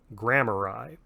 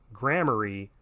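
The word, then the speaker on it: Gramarye: with g it's spelled g-r-e-m-a-y-r-e and it is pronounced grammar i it is not inappropriate however to use the term grammary because that is a slightly different derivation of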